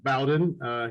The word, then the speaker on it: Bowden: it's interesting too uh the name being pronounced bowden he is named after bobby bowden he's a huge florida